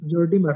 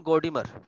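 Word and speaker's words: Gordimer: ভালো একজন রাইটার ছিলেন স্যার এটা নাদিম গর্ডিমার না জর্ডিমার হবে গর্ডিমারই বলি আমরা গর্ডিমার উচ্চারণটা কি হবে স্যার নাদিম গর্ডিমার নাদিম গর্ডিমার তিনি বলছিলেন যে এই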